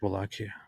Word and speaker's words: Wallachia: I think it's actually just Wallachia.